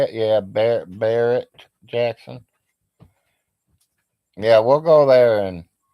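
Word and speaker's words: Barrett-Jackson: Yeah, Barrett Jackson.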